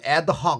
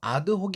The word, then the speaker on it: ad hoc: 그것까지 라고 번역을 하구요 이게 요즘에는 여 현대 영어로 와서 에 아드 혹 인데 발음은 예 영어식으로 애다 이렇게 발행하는 경우 되게 많거든요 그대로 발음 하셔야되요 아드 혹 이구요 뒤에 명사를 써서 이게